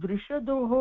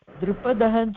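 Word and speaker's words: दृषद: இங்க தாரு திருஷதோஹோ இருக்கு, நீங்க வந்து திரிபதஹன்னு சொன்ன இல்லையா? திருஷதான். திருஷத அப்படின்னா கல்லு. ஓ, நான் திரிபதஹ சொன்னேனா? Maybe I pronounce it wrong. So திருஷத.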